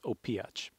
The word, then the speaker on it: Opijac: And I just say, think about Zlatan Ibrahimovic, then you can know my last name as well. So it's Opijac.